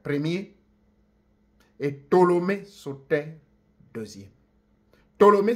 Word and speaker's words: Ptolémée: Ptolémée s'écrit avec un P, on ne prononce pas le P, il est silencieux. Donc vous lirez Ptolémée Soter, qui était bien